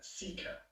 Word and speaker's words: PSICA: conservation areas, which has this rather awkward acronym PSICA, which they pronounce SEEKA.